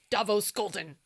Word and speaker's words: Davos Skolden: Davos Skolden.